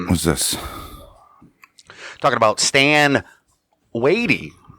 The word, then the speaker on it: Watie: The internet says his last name's pronounced that, so don't get mad at us if it's not right. Watie, Watie. We've heard it all. We've watched about 8 videos with different pronunciations. We're saying Watie.